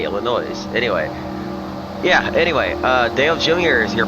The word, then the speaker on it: Illinois: My goodness, you do not pronounce the S sound at the end of Illinois. What I've noticed. Why did I say Illinois?